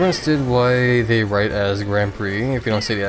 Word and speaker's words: Grand Prix: um Grand Prix like Grand Prickses cuz I I assume that's how you're supposed to pronounce it back then. But um yeah, know apparently the X is just silent and it's pronounced Grand Prix.